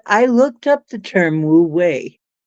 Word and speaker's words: wu wei: I looked up the term wu wei, not spelled the same. It's spelled something like WUWEI, wu wei.